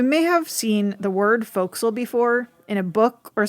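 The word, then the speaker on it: forecastle: the way you may have seen the word foxel before in a book or something printed and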